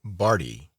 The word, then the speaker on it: Bardi: me but mr barty his name was the honorable reginald bardi pronounced barty did not laugh on